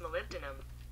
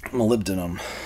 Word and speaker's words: molybdenum: do you pronounce it how do you pronounce malibu denim that's pronounced molybdenum molybdenum molybdenum in this case